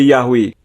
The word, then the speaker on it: Yahweh: Alexandria pada abad ke-2 menggunakan bentuk yahwe banyak transkripsi bahasa Yunani juga menunjukkan bahwa yhwh harus diucapkan sebagai Yahweh arti nama pribadi Elohim